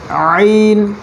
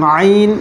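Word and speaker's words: عين: আইন আইন আইন আইন আইন গলার মাঝখান থেকে কেমন এই দুটো অক্ষর মনে রাখতে হবে হ্যাঁ এবং আইন গলার মাঝখান থেকে উচ্চারণ করতে হয় গলার মাঝখান থেকে ঠিক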